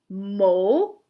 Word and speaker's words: mole: Mole in a hole. Mole in a hole. So this follows our long O and our silent E.